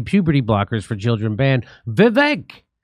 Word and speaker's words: Vivek: Vivek, which rhymes with stomach ache, Vivek Ramaswamy says England just banned puberty blockers in minors because gender dysphoria is a mental health disorder.